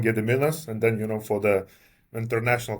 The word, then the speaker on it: Gediminas: because I keep saying I've got kind of two names. One is the domestic one, Gediminas, and then, for the international customers, I keep saying.